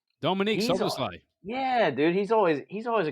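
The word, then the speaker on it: Szoboszlai: I like our boy Slaberschlei. Yeah, I can't ever pronounce his name right. Dominique He's Soboslai.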